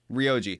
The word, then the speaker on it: Ryuji: People who have never played it, but and I've only been watching Alex and Re, how do you say his name? Ryuji or Rioji? Rioji. Rioji.